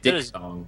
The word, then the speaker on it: diphthong: Sounds like diphthong. Dip. I thought it was diphthong. Well, it's DIPH thong. So it's like it's like a diphthong. It's weird. It is. It rhymes with dong.